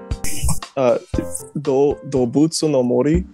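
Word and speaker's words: どうぶつの森: Which people that actually speak Japanese would say that I just butchered it. How do you say it in Japanese? Dobutsu no Mori.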